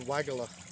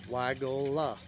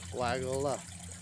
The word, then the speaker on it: Weigela: It's called Weigela. His name's Christian Ehrenfried Weigel. So, you know, if you just add an A to the end of the name, that doesn't change the pronunciation of it.